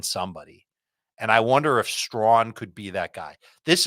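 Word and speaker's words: Strachan: Carolina Panthers sure Michael straw you cannot spell his name like it sounds it's spelled there's a c in there it's s r a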